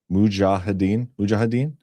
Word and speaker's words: Mujahideen: Armed forces envision insurgency tactics like those used by Afghanistan Mujahideen. How do you say that, Ghost? Mujahideen?